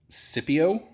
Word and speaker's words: Syppo: So these tow mirrors are actually Syppo, is how I would pronounce it, I guess.